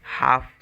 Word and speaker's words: half: मैं आपको, हाँ देखिए, जैसे HALF है, HALF तो L साइलेंट हो जाता है, हाफ हो जाता है ना।